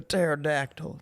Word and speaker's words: pterodactyl: the pterodactyl yeah it's a silent P all right um well